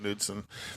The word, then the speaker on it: Knudsen: worked for henry ford i thought it was knudsen yeah either way i always called it nudeson because the k is silent that's why i'm honored